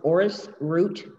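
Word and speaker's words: orris: It's known as Aorus root powder, and it's spelled O-R-R-I-S, root, R-O-O-T, powder, P-O-W-D-E-R.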